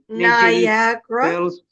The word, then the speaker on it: Niagara Falls: Niagara. Falls Niagara. What, teacher? Ibrahim, we pronounce it Niagara Falls.